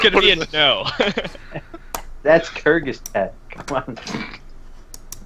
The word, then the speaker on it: Kyrgyzstan: That's Kyrgyzstan. Come on. Kyrgyzstan.